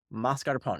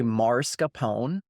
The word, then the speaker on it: mascarpone: The Europeans, no matter what, they can say mascarpone. It's very easy. It's 3 syllables. Mascarpone. Americans, for some reason, have this tendency to say marscapone. And it is like nails on a chalkboard for me, because it's not a dialect thing.